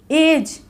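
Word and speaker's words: judge: एशन नहीं करती है जज इसमें भी डी साइलेंट रहेगा तो इसको क्या बोलेंगे जज बोलेंगे ना कि एडज हेज ओके इसमें भी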